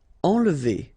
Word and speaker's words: enlever: Enlever. Okay, nasal here, en, and then don't insist on this here.